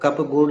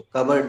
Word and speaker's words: cupboard: कप बोर्ड, अब कप बोर्ड नहीं बोलते उसको, कबर्ड बोलते हैं।